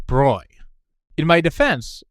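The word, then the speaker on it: Broglie: 29, but whose name I have been incorrectly pronouncing as Brogley instead of the correct Bruy.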